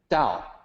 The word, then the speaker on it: Tao: as guam and then dao written as tao pronounced like d-a-o so that's what that